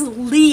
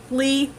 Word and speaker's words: Lea: question I was asked is how do I pronounce my middle name it is Lea that is my middle name it is Li uh le aah I say it so fast